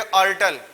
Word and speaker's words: chortle: एक वर्ड देखो CHORTLE, इसका प्रोनाउंसिएशन कॉर्टल नहीं बोलना, इसका बोलेंगे अर्टल। क्या बोलेंगे, अर्टल। अर्टल का मतलब होता है, अर्टल बोला जाएगा इसको, कोर्टल नहीं बोलेंगे, CHORTLE, अर्टल।